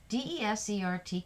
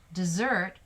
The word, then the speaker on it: desert: why did the mother desert her newborn baby? That one's pronounced desert. It can also be desert, a very dry region with little or no plant growth.